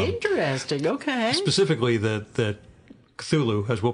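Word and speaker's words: Cthulhu: the Mythos comes interesting okay specifically that that culu as we'll pronounce it uh he does not pronounce it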